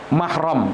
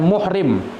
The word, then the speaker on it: mahram: juga kami Ingatkan bahwa yang benar ya dalam pengucapan mahram adalah dengan manfaat HA korup minimnya Nam dan manfaat huruf proyek mahram Hai Bukan dibaca dengan mukrim sebagian masyarakat kita keliru dalam bacanya Ya bukan muhrim ini keliru Harusnya bukan mahram karena